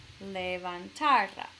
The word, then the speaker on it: levantara: Ok, las sílabas son le, van, tar, a. Entonces la última sílaba es ra y la penúltima sería ta, levantara. Entonces queremos, porque no hay un tilde escrito, significa que esa palabra sí sigue las reglas. Entonces debo poner el énfasis con mi voz en la penúltima, levantara.